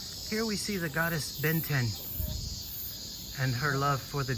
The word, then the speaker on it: Benten: Benten. It's spelled B-E-N-T-E-N. Like the cartoon Ben 10.